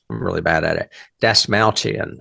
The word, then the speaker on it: Dastmalchian: Dasmalchian, I think is how you say it.